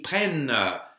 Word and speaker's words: prennent: So, je prends, tu prends, il prend, nous prenons, vous prenez, and then ils prennent, and the NT at the end isn't pronounced.